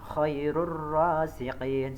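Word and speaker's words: خير الرازقين: Yang berikutnya khairur rasiqin, Jadi ada dhammah tanwin bertemu dengan huruf ra. Jadi bacanya khairur raziqin seperti itu.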